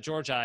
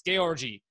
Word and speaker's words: Georgi: he's like you know that's an eastern european name it's georgie and i was like oh oh my god we've always said george i and he's like nope your family's saying it wrong it's gay orgy and i was like